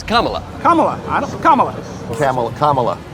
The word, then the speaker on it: Kamala: begins if they could only decide how to mispronounce that name I'm surprised Cala even has a chance no one likes camela they wanted carela in and that's what I don't like to hear about the Camala thing why do you say her name like